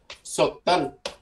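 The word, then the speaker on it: syttende: Sụt tình nè, sụt tình là 17 rồi nhá. Ok ha, thì nó đọc là sụt tình nè, sụt tình nè, chữ D câm, thành ra nó đọc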